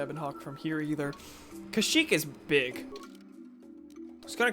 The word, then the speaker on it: Kashyyyk: They say Kashyyyk in Star Wars Battlefront 2. Yeah. Yeah, it's definitely, I think it's the more prevalent pronunciation at least. Even if there is no, like, 100% correct one.